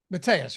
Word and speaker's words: Mateus: that point in time matus Matthias tell me how to pronounce that again Mateus right yeah I thought so uh astutely points